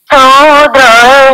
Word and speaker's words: ক্ষুদ্র: এসো গো বন্ধু মামা क्षुद्र हृदय बोलना है छ का उच्चारण ख करना है छ का उच्चारण ख से करना है ख से खरगोश से करना है ना तो क्षुद्र ক্ষুদ্র